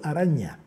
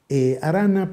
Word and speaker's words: Aranha: canciller brasileño se llamó osvaldo aranha aranda pero ellos escriben nh y se pronuncia como ella entonces el canciller osvaldo